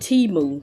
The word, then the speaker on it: Temu: right on time so you pronounce it t Moon t-e-e hyphen m-o-o and it's an online